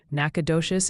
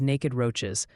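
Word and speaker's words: Nacogdoches: Nakadocious is naked roaches.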